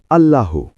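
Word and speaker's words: الله: আল্লাহর 99 টি নামের মধ্যে প্রথম এবং সবচেয়ে গুরুত্বপূর্ণ নাম হলো আল্লাহু। আরবিতে আল্লাহু। বাংলায় উচ্চারণ আল্লাহ অর্থ সর্বশক্তিমান স্রষ্টা একমাত্র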